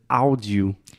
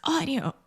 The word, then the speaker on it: audio: So imagine this A-U combination in English. Most of the time, these two sounds combine together and they produce the aw sound.